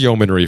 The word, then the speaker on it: yeomanry: So I guess the correct pronunciation is yeomanry for that.